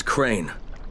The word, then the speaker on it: Crane: the video store no my name's crane crane crane rhymes with train and brain and sane and grain and rain and plane and the other kind of plane and and can i